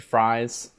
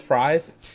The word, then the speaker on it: Fries: I'm pretty sure in the comics it's actually still pronounced like Frizz or like Fries is, or yeah, something, it's or like pronounced Freeze.